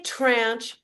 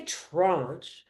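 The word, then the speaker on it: tranche: The word, some people say tranch, some people say trunch. Well, people who say trunch are copying uh how the word is properly sort of pronounced in French, which is because it means slice means a slice of bread.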